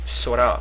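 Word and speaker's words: 空: So here it's sora, which means the sky. So the kun pronunciation, one of the kun pronunciations for this character is sora.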